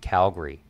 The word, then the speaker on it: Calgary: back and be like well actually I pronounce Cal Calgary Calgary not Calgary just it's it's a